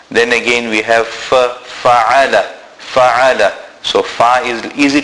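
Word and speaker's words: فعل: Always remember, Ain is pronounced from the center of the throat. We must actually feel it emitting from there. We must feel it being pronounced from there.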